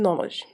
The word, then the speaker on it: knowledge: Also, silent letters may not follow any rules. It just pops up in the middle of any English word, as the letter T in listen and D in knowledge, okay?